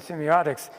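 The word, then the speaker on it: semeiotic: So I decided that this was my foray into Peircean semiotics. I would call that book according to the way Peirce wanted that word spelled. It's pronounced the same in semiotic, whether it's EI or I.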